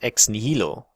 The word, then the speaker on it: ex nihilo: As a German, when we learn Latin, we're taught that Latin is pronounced in a German way. So I will pronounce it ex nihilo. Whereas if you're from an English-speaking country, you're taught to pronounce Latin as though it were English.